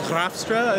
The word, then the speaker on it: Graafstra: It's a Dutch name, so it's Graafstra is the proper pronunciation.